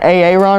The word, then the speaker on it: Aaron: AA Ron. Is Aaron.